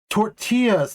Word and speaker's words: tortilla: Tortillas, not tortillas. Yeah, that's not how you say it.